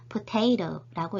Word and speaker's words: potato: 예를 들어 영어에서 포테이토는 이음절 강세예요. 영어로 의사소통 시 강세를 잘못 말하면 전달이 잘못되거나 안 되는 경우가 있는데요. 포테이토를 검색을 해보면 이렇게 이음절로 이루어져 있고요. 강세가 이음절, 두 번째 음절에 있어요. 그래서 potato라고 읽어야겠죠.